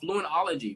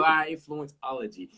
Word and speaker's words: Fluentology: You got a book called Fluentology, right? I'm saying that correctly. Yeah, you said it right. You said it right. There we go. Fluentology.